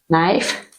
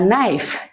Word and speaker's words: knife: no don't say knife letter K is silent so only letter N make sound so K is silent knif knife knife it it's a knife it's a knife your